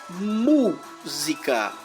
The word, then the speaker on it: música: Por exemplo, música. A sílaba forte é mu.